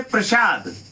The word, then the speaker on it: प्रासाद: कभी कभी उच्चारण को भी समझना चाहिए। जैसे प्रसाद लोगों को खाने में दिया जाता है, और एक शब्द है प्रासाद यानी महल। प्रासाद माने महल।